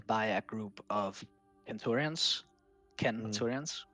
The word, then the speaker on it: centurions: You have to make sure that your legion is led by a group of centurions, centurions with a hard C. That's how Latin works.